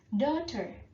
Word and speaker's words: daughter: anak kandung laki-laki Oke dokter dokter dokter anak kandung perempuan cara mengucapkannya G hanya tidak diucapkan ya Jadi bukan dokter bukan begitu ya tapi dokter-dokter kg hanya tidak di baca key Oh ya kita